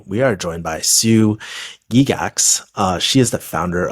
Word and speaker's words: Gygax: I'm and today we are joined by Sue Gigax.